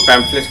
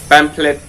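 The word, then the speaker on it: pamphlet: कुछ लिखते हैं इसको पेंपलेट कहा जाता है तो इसकी स्पेलिंग क्या होगी कुछ कीजिए पेंपलेट सबसे पहले तो हम इसका उच्चारण गलती करते हैं हम लोग उसको पंपलेट बोलते हैं लेकिन पेंपलेट्स उतरा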